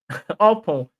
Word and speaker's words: Oppong: Oppong. Yeah, that's how they pronounce it.